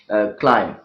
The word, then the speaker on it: climb: Therefore, for the ease of speaker, the second sound, the B sound, has been eliminated from these words like lamb, calm, bomb, numb, and climb.